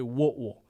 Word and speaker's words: Whitwell: of chattanooga tennessee called whitwell if you're from there they say what will don't ask me how